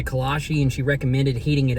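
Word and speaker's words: kolache: a kalashi before honestly i didn't even know if i was pronouncing correct i did ask the kind lady in the bakery and she said it is a kalashe and she recommended heating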